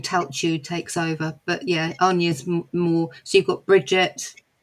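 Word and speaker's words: Áine: What about How did you pronounce it? Aine? Aine.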